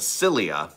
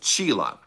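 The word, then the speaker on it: Csilla: Rising, I thought his home planet was called Cilia, but apparently it's called Chila. Who would have thought? Anyway, that's how you pronounce it.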